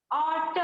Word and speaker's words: autumn: ऑटम, Autumn. AUTMN, यहाँ पर भी बच्चों N जो है वो साइलेंट है, ठीक है।